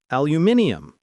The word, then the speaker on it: aluminium: Yes, in Canada we often say aluminium like the British pronunciation.